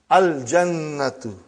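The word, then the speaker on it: الجنة: You will pronounce Lam. Al-jannatu, the garden.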